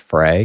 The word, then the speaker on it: Frey: said fry without taking out the E he just eventually gave up trying to correct them so I was raised with it as fry even though we all knew it was supposed to be pronounced fry so I don't really give a which way it's pronounced okay well I'm gonna